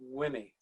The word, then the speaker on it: Wimmy: but to everyone she was simply wimmy pronounced like jimmy she was my father's